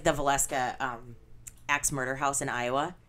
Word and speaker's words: Villisca: It's in Valeska, Iowa, and I think it's spelled Villisca.